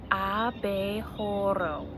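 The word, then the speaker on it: abejorro: in sign language so the way that we say bumble bee in Spanish it's aa BAE hora can you try and say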